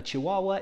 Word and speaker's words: chihuahua: came from mexico so i think maybe this word is a little bit spanish sounding chihuahua it's a fun word to say because it has two wah wah wah chih wah wahs it's a very hard